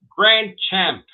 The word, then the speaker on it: Grandchampt: how you doing yeah your last name grandchild Grand champ yes the t is silent okay Grand champ you're